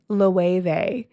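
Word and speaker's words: Loewe: It's you would pronounce it as low like O L O E W E, but they pronounce it as LE and just deliberately make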